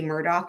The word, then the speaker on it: Murdaugh: voice detects IED where if I say Murdoch it spells it correctly because obviously it's not spelled but it's pronounced um is it gonna